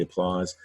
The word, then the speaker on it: applause: going to be very responsible applause hopefully say applause the hair might zip through though make a